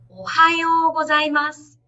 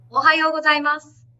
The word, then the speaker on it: おはようございます: It's pronounced as おはようございます. Okay, which means good morning. When do we use this? Imagine you went to school. You saw your teacher. You would say おはようございます in a high pitch.